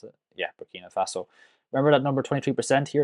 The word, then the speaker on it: Burkina Faso: Compared it to Burkina Faso, that's how you pronounce it. Yeah, Burkina Faso.